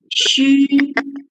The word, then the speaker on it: 需: So X plus a U over here we're reading as 需.